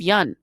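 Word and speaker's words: Yeun: Everybody mispronounces Steve Yun's last name too. They call him Steve Yoon. It's not. It's Steve Yun.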